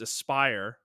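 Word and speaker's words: Aspyr: Apparently it's Aspire, not Asper.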